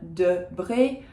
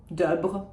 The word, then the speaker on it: Debré: And then Debré, the first is an sound because it doesn't have an accent on it, and the second one has an accent on it, so it becomes an e. See, you're getting the hang of it. That's why it is Debré and not Debre or something like that.